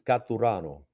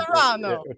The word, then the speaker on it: Caturano: let you introduce yourself so that it gets pronounced correctly. Doing a lot of media, my ongoing joke, it's with three fingers. It's Caturano. You could Caturano.